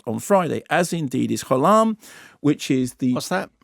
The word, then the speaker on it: Gholam: And in fact, I know this for a fact because I interviewed the director, and I was calling it Gollum before, and she said Gholam, and I said, I'm